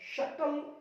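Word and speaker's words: subtle: यहां पे टी से पहले बी को साइलेंट करना है। शटल, इसको शटल पढ़ेंगे, सीख लिया, बहुत बढ़िया।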